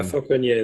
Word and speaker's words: Falconier: And Corey Falcon, I don't even know how to say his last name, but it looks Frenchish. Falconier, maybe. Yeah, Falconier, that's right.